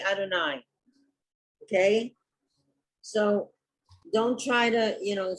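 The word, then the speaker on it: יהוה: It has no vowels. You just say Adonai.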